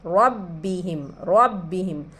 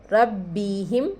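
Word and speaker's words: رَبِّهِمْ: रहे हैं हम, रब्बिहिम तशदीद वाला हर्फ हमेशा 2 मरतबा अदा होता है, हम नूरानी क़ायदे में पढ़े हैं। रब्बिहिम मीम ज़ाहिर हो रहा, इजहार शफ़वी का कायदा है, क्योंकि मीम को ज़ाहिर करके पढ़ रहे हैं तो इजहार शफ़वी का कायदा होता है।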